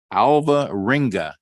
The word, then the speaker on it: Alvarenga: And I am going to attempt to say your last name is Alvarenga. Did I come close? That's absolutely correct. Yes. It's pronounced the way it's spelled.